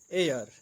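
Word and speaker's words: heir: on rebel man एंड on rebel man एन एयर या उत्तराधिकारी आद जैसे एन आवर एक घंटा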